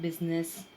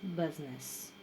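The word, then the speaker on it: business: Next one, ज़्यादातर हम इसे बोलते हैं बिजनेस। ओके, बहुत ज़्यादा थोड़ा सा ऐसा फोर्स लगता है बिजनेस, सो इट्स not like that, it's बिजनेस।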